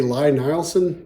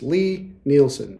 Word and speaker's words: Lie-Nielsen: out there that say Ly Nileson, please stop doing that. The guy's name is Lee. It's pronounced Lee. It's Lie-Nielsen.